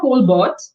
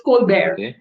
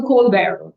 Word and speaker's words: Colbert: It's not Colbert it's cold bear. See B E R is pronounced as B E A R bear. So Colbear now he is an American talk show host.